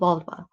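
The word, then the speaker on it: Völva: practitioner or the Volva, which sounds very similar to the female part. I know, but that's how you pronounce it. So Volva.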